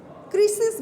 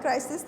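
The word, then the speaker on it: Chryseis: ক্রিসিস বলা হয়, ক্রাইসিস না, ক্রিসিস।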